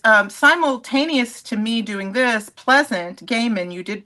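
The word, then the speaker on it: Pleasant Gehman: And simultaneous to me doing this, Pleasant Gaiman, you did pronounce her name correctly.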